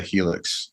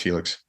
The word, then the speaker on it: Hilux: The Helix trucks, I believe it's pronounced Helix, or Hilux, right? Anyway, I've heard it both ways. I read it as Helix, but I had a 4x4 guest on that said Hilux.